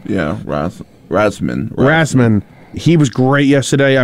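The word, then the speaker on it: Rasmussen: Rasum? Yeah, Rasman.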